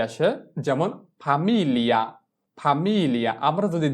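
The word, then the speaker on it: famiglia: এফ এ আ ফা, এম এ ই এল এ মিল, এল ই আ লিয়া, ফামিলিয়া, ফামিলিয়া। তাহলে যদি আমরা জি কে বাদ দিয়ে উচ্চারণ করি তাহলে আমাদের উচ্চারণ কি আসে ফামিলিয়া, ফামিলিয়া।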